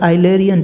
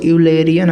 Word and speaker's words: Eulerian: पहला जो है वो है लैग्रेंजियन डिस्क्रिप्शन, दूसरा जो है आइलेरियन डिस्क्रिप्शन। इसको यूलेरियन आप मत पढ़ना, यूलेरियन बहुत लोग पढ़ते होते हैं, ये आइलेरियन डिस्क्रिप्शन है, तो हमेशा करेक्ट करके इसको प्रोनाउंस करना, आइलेरियन डिस्क्रिप्शन।